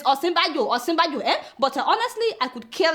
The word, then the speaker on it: Osinbajo: Some of you are saying Osinbajo. It is Osinbajo, But honestly, I could care less whether Buhari knows how to pronounce the man's name or not.